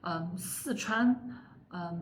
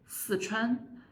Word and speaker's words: Sichuan: So Sichuan in Mandarin pronounces as Sichuan, but in Sichuan dialects it pronounces as Sichuan. You see the difference? Sichuan, Sichuan.